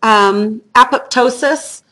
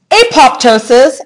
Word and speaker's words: apoptosis: So you would not believe the controversy online of how to pronounce the word apoptosis, apoptosis. I don't care how you say it. Sherry prefers apoptosis. Different dictionaries, medical dictionaries had it both ways. I've heard it both ways from other scientists.